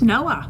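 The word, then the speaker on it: NOAA: got really into the this how do you pronounce the name of the division for the chamber of commerce that um oh it's noah noah noah yeah yeah that's pretty neat national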